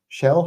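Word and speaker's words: Xel-Há: it sh oh Shell Shell ha that XA is pronounced shell interesting okay that's cool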